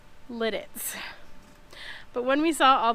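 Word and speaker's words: Lititz: So excuse my pauses as I say Lidditz. But when we saw all the ducks in Lidditz, of course the children were saying, when we settle down, we have to have ducks.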